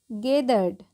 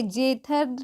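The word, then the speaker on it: gathered: The people गेदर्ड। ठीक है, जेथर्ड नहीं पढ़ते हैं, क्या पढ़ते हैं, गैदर्ड।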